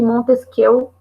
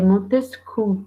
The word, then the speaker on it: Montesquieu: Mas por que o Montesquieu na verdade, ele é Montesquieu, tá? Se eu não me engano, a pronúncia certa seria essa.